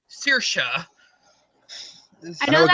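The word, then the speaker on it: Saoirse: Sihanouk, it's pronounced Shinna, or Sorshi is Sirsha.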